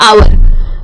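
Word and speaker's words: hour: अगर आप ये समझ गए कि कौन से वाले में साइलेंट है, जैसे कि बहुत कॉमन वर्ड्स होते हैं आवर, ठीक है, या ऑनेस्ट, ये बहुत कॉमन वर्ड्स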